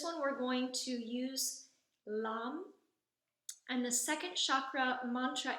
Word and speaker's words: LAM: So the mantra for the first chakra is the syllable LAM, L-A-M, LAM. So we say this kind of like in a yoga class where we would chant the word Om, which resonates in a different chakra.